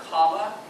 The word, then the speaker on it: Kamala: Kamala, always mess up. It's pronounced Kamala, and I always mess up, so I just say Harris.